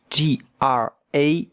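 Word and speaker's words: grave: J A V G R A V E gra. But the E at the end, we don't hear it. And look at how to pronounce it. Grav with the French R.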